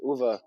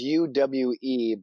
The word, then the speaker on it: Uwe: Yeah, it's UWE, but apparently that's a V sound, so Uwe.